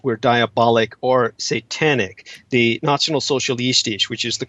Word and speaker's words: Nationalsozialistisch: The Nationalsozialistisch, which is the correct pronunciation for the National Socialists, they were essentially very much an occult movement.